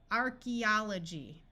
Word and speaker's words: archaeology: that is completely confused archaeology AE says e in this word and here we have